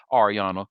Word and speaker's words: Ariana: the public following his high-profile relationship with ex-fiancee Ariana Grande. And the thing about black people, because she has said her name is pronounced Ariana Grande, we just refuse to say her last